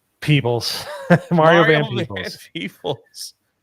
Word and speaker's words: Peebles: in the Bahamas studying snails with Mario Van Pebbles. Is that how you say his name? Peebles.